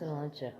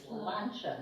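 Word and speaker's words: Sláinte: and the guy said, just think it's a lawn chair. It's lawn chair, it's lawn chair. A lawn Slancha, that's how it's pronounced. Slancha. Slancha.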